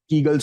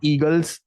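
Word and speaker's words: Kegels: में आप अपने आप कीगल्स होल्ड करेंगे। कीगल्स की स्पेलिंग मैं बता देता हूं। के ई जी ई एल एस कीगल्स okay it's नॉट ईगल्स pronunciation में कभी-कभी आवाज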